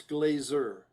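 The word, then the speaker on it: Glaser: I And it's Glazer, even though it was spelled with an S, not a Z, but yeah.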